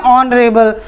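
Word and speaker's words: honourable: अ से शुरू हो रहा है, इसलिए ये एच यहाँ साइलेंट हो जाएगा और हम इसको क्या प्रोनाउंस करते हैं? ऑनरेबल।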